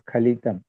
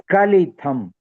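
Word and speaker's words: स्खलितम्: Arunam Nayanam Charanam Vasanam Vadane Khalitam No, people are pronounced as Khalitam. It is Skalitham.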